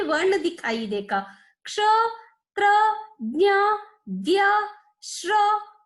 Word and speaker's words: क्ष: इसका उच्चारण किस प्रकार करना है? क्ष। अब देखिए, इसका उच्चारण करते समय पहले का की आवाज आ रही है, बाद में शा की आवाज आ रही है।